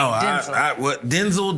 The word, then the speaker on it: Denzel: Because that's how you really say his name, Denzel.